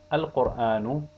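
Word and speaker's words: القرآن: Al-qur'anu, lam is pronounced.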